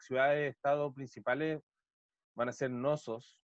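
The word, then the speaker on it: Cnosos: principales van a ser Nosos, que se escribe con una C al principio, Nosos.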